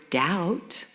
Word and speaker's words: doubt: There is no B sound in the word doubt, no G sound in the word sign, no S in island, and no W in who.